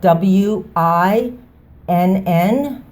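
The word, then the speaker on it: Winn: me and it's my last name is spelled w i NN it's w i n n Win yes win or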